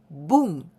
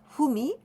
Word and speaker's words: 文: Ki means sentence and we usually say boom but we can also pronounce as humi or moong the stroke order